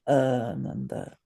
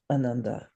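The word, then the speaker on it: ānanda: But if you say it improperly, ananda or ananda or ananda or something, it means grief. So there's a big difference if you say it properly, ananda versus anunda, which is grief.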